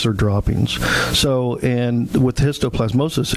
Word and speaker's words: histoplasmosis: It's pronounced histoplasmosis.